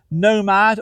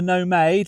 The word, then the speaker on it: Nomade: As I say, it's called the Nomad or the Nomade.